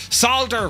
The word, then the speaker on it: solder: We're not bloody American. Listen, solder. Right? You say solder and people look at you weirdly, and then you know... That's right, that's how you say it. It's a soft L.